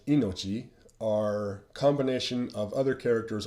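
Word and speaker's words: 命: the uh character itself it's pronounced inochi or when you combine it with other characters the pronunciation changes to mei so for example here's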